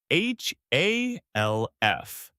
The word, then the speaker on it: half: The word is half. H A L F. The L is silent. You say half.